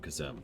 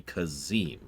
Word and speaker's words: Kazim: kazm please follow me I will kill you for pronouncing my name kazm though I just want you to know that it's nothing personal but he just called me kazim so you have nothing to go off of other than what he just said and you still mispronounced it so you're dead like